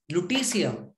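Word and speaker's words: lutetium: an industrial catalyst metal structure in some alloys lutesia that's how it's pronounced atomic number 71 lutasium symbol is lu it's a solid at room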